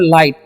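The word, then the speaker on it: light: अगर लिखा हुआ लाइट, तो यहाँ पर भी GH साइलेंट है।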